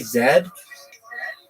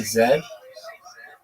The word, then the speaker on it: zed: You say zed. Yeah. I'm Canadian so it's a zed. It's not a z.